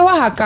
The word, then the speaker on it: Oaxaca: México está viral Cómo Oaxaca Ah sí dice Oaxaca al igual que no se dice México los pueblos o regiones con x de México no los sabía todos